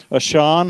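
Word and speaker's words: עשן: It's the word ashan. And sometimes I like to say it like this. Pillars of ash. Ashan. Ash. Can you just see how that would just kind of kind of sound like it?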